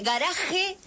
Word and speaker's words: garaje: Si yo digo garaje, estoy diciendo bien. Así correspondería pronunciar. Pero nosotros decimos con garage. La pronunciación del español, sí.